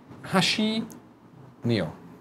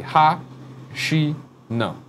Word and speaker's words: Katsura Hashino: Well, I know, but Japanese is good when you break it down. Per Schneider once said they use short syllables, so do it that way and it works. So it'd be ha, she, no.